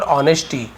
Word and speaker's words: honesty: S silent रहता है केवल ऑनेस्टी, गरीब ईमानदारी ये भी हो सकता है, या फिर घटिया ईमानदारी ये भी हो सकता है।